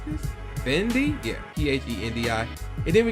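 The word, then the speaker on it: Phendi: Next up is Who's in the House, performed by Eric Sherman and, how you pronounce this? Fendi?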